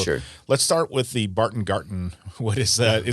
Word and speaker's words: Barton Garten: Let's start with the Barton Garten. What is that? Am I pronouncing it right? That's correct. Yes. It's supposed to be a German spin on it.